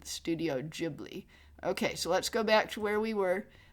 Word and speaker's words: Ghibli: Do I do a cozy Studio Ghibli style video of Bilbo's birthday with Gilby? Does he mean Ghibli? Instead of Gilby, does he mean Studio Ghibli? Is that what he means? He mispronounced it.